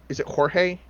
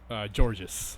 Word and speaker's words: Georges: Is it Jorge? Georges. That's how it's pronounced. Apparently.